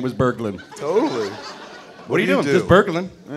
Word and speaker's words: Berglin: Spell it. B-E-R-G-L-I-N?